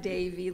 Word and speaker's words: Devi: By the way, my name sounds like not at all like it's spelled. So it sounds like Davy, like the boy's name, and, like the candy.